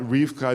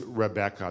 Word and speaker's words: Rebecca: so it seems that Rifka is actually not the original pronunciation it seems that the original pronunciation of the word was Rebecca that it was three syllables not two syllables it seems that the